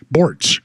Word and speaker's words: Borts: people how to pronounce my name borts rhymes with sports other people have it